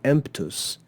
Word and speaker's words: emptus: the ending TUS but instead of saying mtus we add a p to make it a little easier to pronounce and we say emptus emptus that makes it